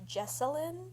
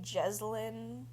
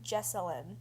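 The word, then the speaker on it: Jessalynn: um I found out her mom's name is pronounced jesselin and I say jeline the entire time so um yeah it's pronounced jesselin I'm sorry wrote down mom jine jasine and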